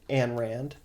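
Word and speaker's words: Ayn Rand: Sorry, Ann Rand.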